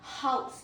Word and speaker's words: house: Pronunciation two is house. House ends in zed means house.